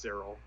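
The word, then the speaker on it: Syril: interesting to me um I'm pretty sure it's just Cyril I like Siri uh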